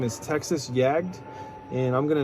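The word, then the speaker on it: Jagd: jag that's texas t-e-x-a-s yag is actually german it means hunt in german and it's spelled j-a-g-d and you can check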